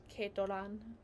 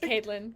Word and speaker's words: Kaitlen: Keitoran. Really? That's me. Oh! Caitlin. How do you say it? I was just trying to say in Japanese like Keitoran. Keitora. No, not like that. It's just Caitlin.